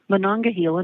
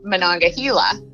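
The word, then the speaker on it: Monongahela: Thank you for calling the United States Department of Agriculture, Manangahila National Forest.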